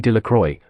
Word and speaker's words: Delacroix: roundest stones Bobby and Harry Jones and Dickie De La Croix the villagers pronounced this name delacroix eventually made a great